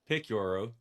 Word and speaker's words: Picciurro: We are excited to have our guest, Chris Picuro. Picoro, is that how we say it, Chris?